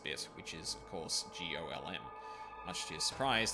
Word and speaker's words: GOLM: He asked to be referred to by the last bit, which is, of course, GOLM. Much to his surprise, this ends up being pronounced like Golem, anyway.